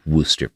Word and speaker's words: Worcester: It is spelled Worcester. I'm so angry. Worcester.